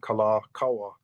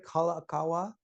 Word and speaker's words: Kalākaua: Kalakaua.